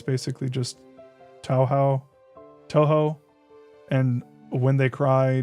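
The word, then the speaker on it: Touhou: Ryukishi uh Duskbug says Ryukishi and Zun the to How do you pronounce Tohjo?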